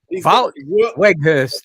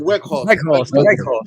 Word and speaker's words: Weghorst: Wout Weghorst. Wout Weghorst. That's it. Weghorst. It's like a V. The W is like a V. Yeah. That's how they do it.